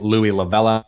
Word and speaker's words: Louie La Vella: And they're all my first and last name, which is Louie Lavella, and that's spelled Louiellavella.